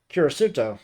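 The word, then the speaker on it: キリスト: like the character for 10, and Christian being pronounced as Kirisuto.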